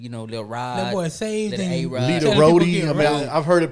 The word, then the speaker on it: Lita Rodi: And so I just changed some letters around for it to be pronounced like Literati.